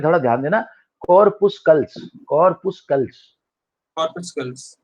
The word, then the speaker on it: corpuscles: कई जगह मैंने प्रोनाउंसिएशन देखा है कि कुछ लोग एल छोड़ देते हैं, कॉर्पुसेस बोलते हैं, ऐसा कुछ अजीब सा बोलते हैं, बट हमारे लिए ज्यादा इंडियंस के लिए जो मुझे लगता है हमारे जो ये वाला प्रोनाउंसिएशन ज्यादा अच्छा है, कॉर्पुस्कल्स।